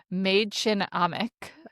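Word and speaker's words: Mädchen Amick: And then Sherry, who is played by I assume that you looked this up and spelled out how to pronounce her name. Maid Chin Amik.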